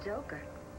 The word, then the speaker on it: Joker: And the J is for Joker. Rhymes with poker.